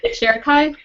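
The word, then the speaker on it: Sharakhai: Sharakai?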